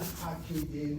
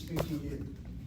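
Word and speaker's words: פקידים: It's not pakidim, it's pikidim. Question, why is it not pakidim? Again, the rule of the medium kamatz is either accented or one place removed.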